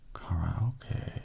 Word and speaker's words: karaoke: The word karaoke, or "karaoke" as it's pronounced in Japanese, is a composite of the Japanese words for empty and orchestra.